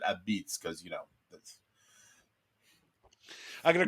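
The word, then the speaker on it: apizza: and but you know they call it AB beitz a p i z zaa and they pronounce it Ab Beats because you know I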